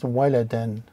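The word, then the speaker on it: وَلَدًا: First one is waw with the fatha is wa, lam with the fatha is wala. And dal with the alif, with the fatatain, is waladan. Waladan.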